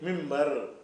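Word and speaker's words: منبر: சொன்னா அதை என்ன செய்யணும் ன் வந்து ம்மா மாத்திரனும் மின்ப மின்பர் மின்பர் என்று எழுதினால் மின்பர் தான் சொல்லணும் எழுதுவது மின்பர் வாசிப்பது மிம்பர் எழுதுவது அன்பர் வாசிக்கிறது அம்பர்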